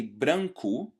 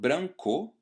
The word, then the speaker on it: branco: even if you don't, you might have realized that I don't pronounce ele, but I pronounce ele. So exactly like the O at the end of a word, which is pronounced as a U sound, so I say branco instead of branco, the E letter at the end of a word is not pronounced E, but E instead.